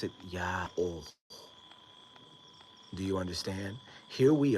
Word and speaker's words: YAOH: words in the world, with it just barely mispronounced as Yahoo instead of Yah-oh, because of the misunderstanding that we have that they've hoisted upon us.